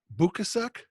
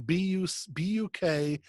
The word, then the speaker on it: Bukacek: Annie, but it's Dr. Ann Bukasek, I think is how you say it. It's Bukacek. Sounds like Bukasek to me.